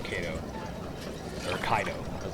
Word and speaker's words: Caedo: That's when I first used the name Ko or Kaido as it's actually pronounced or supposed to be pronounced I should say.